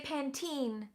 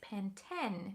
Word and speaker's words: Pantene: yes claire points out in america we say pantene but in in all of europe i believe or maybe not but definitely in the uk it's pantene and that's even on the adverts spelled the same way okay i want a